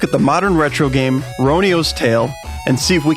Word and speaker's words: Roniu's: into let's look at the modern retro game ronio's tale and see if we can answer that question yeah i know it looks like rhony s but apparently it's pronounced ronios more on that